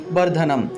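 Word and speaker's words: বর্ধনম্: সুগন্ধিম পুষ্টি বর্ধনম, সুগন্ধিম পুষ্টি বর্ধনম, অনুস্বার থাকায় ম উচ্চারণ, ঠিক আছে। এখানে একটা অনুস্বার থাকায় এখানে ম উচ্চারিত হবে, অনুস্বারের পরিবর্তে ম উচ্চারিত হবে, বর্ধনম।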